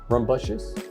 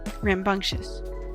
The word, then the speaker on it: rambunctious: But yeah, Rambious. What is the word? I can't pronounce it. Rumb rambunctious.